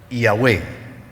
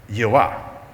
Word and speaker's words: Yahweh: Entonces, yo pronuncio Yahweh, pero él pronuncia Jehová. Nunca Jehová, porque es que la J no está ahí.